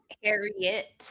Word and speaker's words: Harriet: How do you pronounce it? Uh, Harriet.